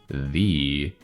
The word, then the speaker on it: ye: And actually this ye should be pronounced the. Yeah, because this Y is an old-timey symbol for the sound TH.